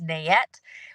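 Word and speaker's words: NAET: that will do it's called Nae I pronounce it as nette what it is is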